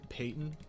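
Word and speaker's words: Peton: Sorry, when I say Peyton, it's the dude whose name is spelled like P-E-T-O-N.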